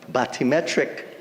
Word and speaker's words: bathymetric: When will the bathymetric surveys begin? Bathymetric. You could Google it. That's the correct pronunciation.